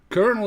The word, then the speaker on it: colonel: I don't know how to pronounce it. Colonel is a military rank, but like the one piece of popcorn before it pops.